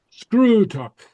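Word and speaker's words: sgrùdadh: A long U. Screwtalk. Okay. To inspect. Okay. Uh, screw tuck. Okay. And it's swallowed screw tuck. Okay. Sometimes you won't hear it at all. Sometimes people just swallow the DH totally.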